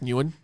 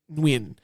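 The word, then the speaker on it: Nguyen: Donna Nuan and her I think that's how you pronounce Nuan. Uh that's Vietnamese, I believe. Donna Nuan and her um No, it's W. I' I've No, it's W. That's how you pronounce it. Nuin.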